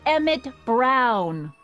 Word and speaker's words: Emmett: That's Emmett Brown. Rhymes with clown, which I'm beginning to think you are.